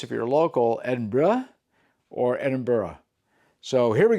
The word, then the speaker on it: Edinburgh: All right, now we're going to move to Edinburgh, not Edinburg. So uh apparently it's pronounced if you're local Edinburgh or Edinburgh.